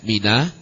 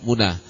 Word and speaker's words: Mina: Ada yang bacanya Mina, tempat haji itu ada yang baca Mina, ada yang baca Muna. Kalau lihat di pelangnya itu Muna, M-U-N-A. Kalau bahasa orang Indonesia bacanya mau kemana? Mau ke Mina, M-I-N-A. Ya. Silakan baca Muna boleh, baca Mina boleh.